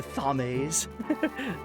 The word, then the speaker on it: Thames: I'm gonna start pronouncing that right, by the way. The Thames.